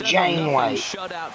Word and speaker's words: Janeway: Again, it's Jane Way. Just like it sounds, J A N E W A Y.